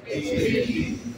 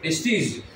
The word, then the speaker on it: testes: Testy. What? Testy. Testy. Like this, testy. The way you're pronouncing it, I should write it like that. Huh? Is it right? Testes.